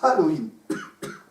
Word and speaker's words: Halloween: Ouais, c'est qu'en fait, on ne prononce pas le H, voilà. C'est juste pour faire le du début du mot Halloween.